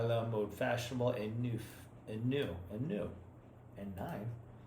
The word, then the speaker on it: neuf: Tout dans la maison semblait très à la mode et neuf. Neuf. Okay. Pronounce it with that V, more like the number.